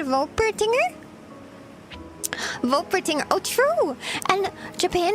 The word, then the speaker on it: Wolpertinger: wait, no, it would be pronounced with a V, right? Wolpertinger?